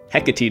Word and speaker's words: Hecate: pronounced now i know hecate doesn't rhyme with takate and natick is not